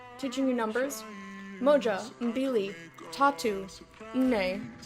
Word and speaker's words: nne: Moja, mbili, tatu, nne. Nne, that's 2 syllables, remember, that ends in M's, unless next to a vowel or a Y, they are their own syllable. So it's nne. I'm gonna stop.